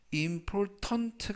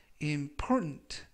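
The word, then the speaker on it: important: 중요한 이라는 형용사가 되겠고요 이때 발음에 유의 하실 것은 키 발음이 머금은 아니지만 거의 발음이 되지 않습니다 그래서 임플 턴 트 가 아니라 임 프론트 라고 발음 하시면 좋겠습니다 즉 전체적 의미는 치아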